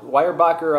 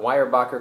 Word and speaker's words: Weyerbacher: triple style l now wire backer uh brewing founded in 1995 by dan and sue wire back um wire backer coming from the original pronunciation of their ancestors names 200 years ago in germany and they converted an